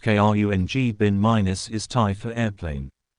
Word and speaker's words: Khruangbin: the upcoming Grammy Awards the name minus pronounced KR n g bin minus is Ty for